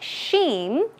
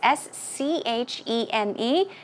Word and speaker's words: scheme: Okay, it is not sheen. Sheen, no, it is S-C-H-E-M-E, and it's pronounced scheme.